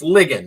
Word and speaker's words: Ligon: I keep mispronouncing your name. It's Ligon, right?